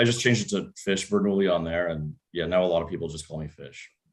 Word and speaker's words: Bernoulli: Yeah, because I always use the fish avatar, and the problem was everyone on Clubhouse was too dumb to pronounce Bernoulli properly, and they kept calling me Bertoli.